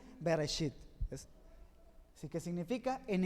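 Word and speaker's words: בראשית: torá se escribe así y se pronuncia así bereshit es así que significa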